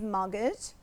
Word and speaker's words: mortgage: the correct answer is mortgage, because it is in the past. And mortgage means, be careful of this word, because we don't pronounce the T. It's a silent letter.